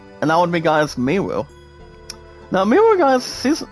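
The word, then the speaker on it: Meru: Miru, guys, is pronounced M-E-R-U. M-E-R-U. Well, I repeat, guys, M-E-R-U. Miru instead of mono.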